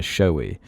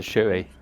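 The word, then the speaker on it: shoey: poured over his head in a showy which for those who don't know is filling one's shoe sorry shoei it must be them yeah it's a shoei yeah it's just this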